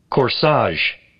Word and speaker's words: corsage: Corsage, corsage, corsage， corsage，就是 g e 浊化成日的音，就像下